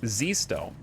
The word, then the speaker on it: Zesto: yo guys what's up is it zist though did I say it right my name's hard to pronounce so I figure I'd ask I appreciate the raid were you guys playing some satisfactory or something else Zesto okay Zesto I got it thanks so much